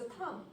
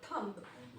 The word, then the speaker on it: thumb: Like similarly, this is a thumb, not thumb.